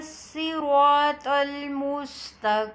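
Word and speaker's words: صِرَاطَ: Ihdina siratal mustaqim. Sirata. In read Sirata, the letter Sad, heavy and with a full mouth.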